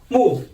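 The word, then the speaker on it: 木: Mu. In Chinese, it's pronounced as mu.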